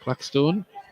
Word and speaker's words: Claxton: Well, looks like we're going to get a bit of a long throw here from Claxton. Or Claxstone, it's pronounced that way.